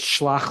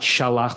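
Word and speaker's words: שלח: Because the reason why it's shlach lecha, not shalach lecha, is because the lecha is added onto it. So it's as if it's one word, and therefore the first syllable is shortened.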